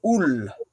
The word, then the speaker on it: Ullr: But Idalr, the dale of the yew trees, they call the place where Ul. Now he translates as Ul, but it's spelled Ullr in Old Norse.